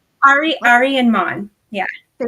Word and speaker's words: Ary: Am I pronouncing it right? Aryan man. Ari.